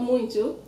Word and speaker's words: muito: Yes, exactly, but it's not, in Portuguese it's not muito. Muito. So again, you have that same O sounding like U. It makes it easier when you pronounce it like that.